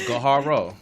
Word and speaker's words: Gaharo: It's 3 syllables. Gaharo. Kaharo.